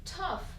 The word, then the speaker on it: tough: on va commencer avec geof donc ici le gh2 la fin va se prononcer f donc tu as fait